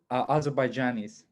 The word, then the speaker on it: Azerbaijanis: Azerbaijanis.